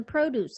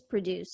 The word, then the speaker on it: produce: be found in the produce aisle. The verb, these companies produce 100,000 shirts per year. Here, although the highlighted words are spelled the same, there is a difference in their pronunciations.